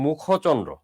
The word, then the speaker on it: মুখচন্দ্র: তখন উচ্চারণটা এই খর শেষ বর্ণে যে অটা ছিল অর উচ্চারণটা হয় ওর মতো, উচ্চারণটা হয় মুখচন্দ্র।